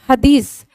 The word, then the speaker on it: Hadith: सुन्ना एंड हदीस, हम बोलते हदीस है स्टूडेंट, बट उसको लिखते हदीत है, TH होता है। तो अगर जब भी मैं हदीस बोलूं तो आप ये मत कहना कि ma'am pronunciation is something different.